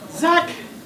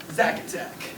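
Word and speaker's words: Czak: Zack, is that your name? No. C Z A K. Zach.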